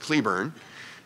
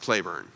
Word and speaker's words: Cleburne: by the way but as the name of a town in Texas it's pronounced Cleburne and I think and is the name of a general and Confederate Army was pronounced Clayburn and even though it's